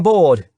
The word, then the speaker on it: Bord: "I'm bored, as in boring. Well, I'm not boring, but that's how my name is pronounced."